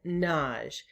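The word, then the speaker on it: Nagy: hungarian pronunciation which is naj it sort of rhymes with taj and taj mahal so that's one way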